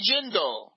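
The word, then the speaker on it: Jindal: Bobby Jindel rhymes with swindle.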